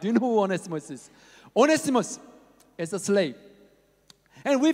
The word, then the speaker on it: Onesimus: slaves that on either far lemon had was onesimus everybody said onesimus okay you said it right now right next